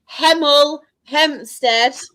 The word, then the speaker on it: Hemel Hempstead: And next, in fifth spot, we do have Hemel Hempstead. Yes, I pronounced my H's.